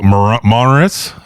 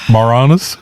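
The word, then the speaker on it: Moranis: All right, so let's talk about Linsk Muk played by Rick Monores. Morannis. Morannis. I thought I was the guy who couldn't pronounce things.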